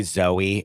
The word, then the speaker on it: Zoe: her middle name is really Zoe and then she changed it to Zo? 100%. Right. Rachel Zo as a stylist. Rachel Zoe is not I agree with you. I think that she changed the pronunciation of Zoe when she made it her last name.